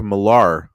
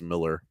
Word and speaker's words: Millar: I think it's Miller. I think Americans just say his name that way, but he's Scottish if I remember right.